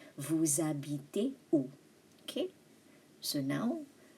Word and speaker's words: habite: Il habite où? H is silent, remember?